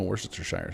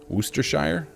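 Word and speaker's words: Worcestershire: How do you get rid of that many syllables? You just cut out. So like you go to Worooster. So you cut out the the R C, the H, and the E.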